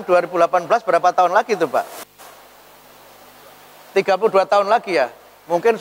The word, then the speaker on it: Pew: Itu hasil penelitian dari lembaga namanya Pew Research Center. Tulisannya PEW tapi dibacanya P.